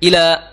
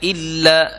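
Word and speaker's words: إلى: Ila rbiha Nadir ya Ila jangan sampai illa ya karena berbeda artinya kalau Ila artinya ke menuju Ya tapi kalau illa itu artinya kecuali ya karena ada tasdidnya jadi bacanya Ila rabbiha Ila rabbiha nadiroh nadoh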